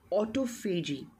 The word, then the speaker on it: autophagy: Now, although the word that I'm writing with O starts with A, but when we pronounce it, we call it autophagy.